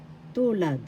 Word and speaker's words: tulad: Tulad. First syllable tu, second syllable lad. The first syllable has the accent.